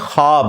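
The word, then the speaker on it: خواب: शैतान नहीं आ सकता अच्छा यह लफ्ज लिखने में है ख्वाब ख वा अलिफ बा लेकिन पढ़ने में यह ख्वाब है वाओ साइलेंट हो जाता है ख्वाब पढ़ा जाता है यह लफ्ज़ उर्दू में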